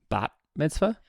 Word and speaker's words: bat mitzvah: I'm pretty sure it's pronounced bat mitzvah. Bar and bot. There's 2 different ones.